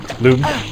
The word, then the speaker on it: lum: But hey, at least you got that red lum, right? Loom. Oomsley. But yeah, I'm sure they did that. I don't agree with that pronunciation of lums. Well, it's like illuminate, not like dumb.